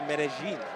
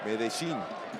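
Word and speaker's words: Medellín: Well, actually, I just learned recently they pronounce it there Medellin. Medellin.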